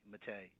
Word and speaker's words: Mattei: Mattei. And her first name is spelled E X Let's go to to the next call.